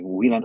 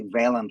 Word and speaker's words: Wieland: So you pronounce it, but just call me Wieland or say Valand, which is the US Valen, version of that.